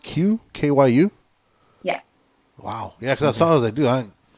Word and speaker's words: KYU: EP um yeah so Q um is spelled KY U he's a producer from